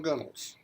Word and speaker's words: gunwales: Now time to put on the gunnels. It's spelled gunwales, but came through England, and the British have corrupted and butchered the English language.